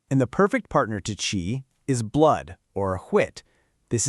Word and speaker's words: qi: First up, we have chi. that's pronouncedqi. This is the yang side of the equation.